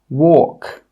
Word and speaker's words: walk: The letter L is normally not pronounced when it's after the vowels A, O, and U. Some example words are walk, half, calf, yoke, could. In all of these words, we are not pronouncing that L sound.